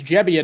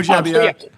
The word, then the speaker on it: Gebbia: By the way, it's I've just learned it's Gebbia, not Gebbia. So unless he's pulling a fast one on me, we all have to correct our pronunciation. Yes. Okay, Joe Gebbia.